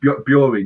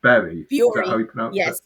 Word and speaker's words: Bury: It's Bury, not Berry.